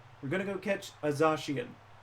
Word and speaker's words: Zacian: It's pronounced Zacian and Zamazenta.